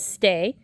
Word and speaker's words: ste: The second word is stay, S-T-E, though it's pronounced like our S-T-A-Y.